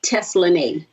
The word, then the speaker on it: Teslanay: my government name uh it is pronounced Tesla name that's what my mama named me but it is spelled